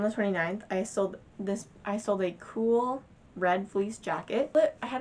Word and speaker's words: Kuhl: I got a $25 offer, which I heard that Cool was a really good brand. It's Kuhl. That's how you spell it.